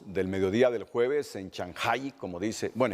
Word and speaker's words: Chancay: mediodía del jueves en chanjay como dice bueno es que así se pronuncia nosotros decimos chancay pero ya Gabriela Lugo está pronunciando correctamente Shanghai ella va a estar